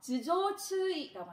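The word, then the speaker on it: 頭上注意: 그래서 마찬가지 이때 두를 즈 하고 발음을 합니다. 그래서 즈조추이라고 합니다. 즈조추이. 그래서 머리를 조심해 주세요.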